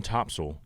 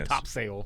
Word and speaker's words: Topsail: your life there are some places on topsail that actually spell it t-o-p-s-u-l so people know how to say it right they're tired of people saying top sale topsail island yeah so